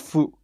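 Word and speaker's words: ふ: whatever you um it it can mean it can be pronounced like that but a lot of times it's pronounced as f with an f like it sounds like an f or like you're blowing so like right all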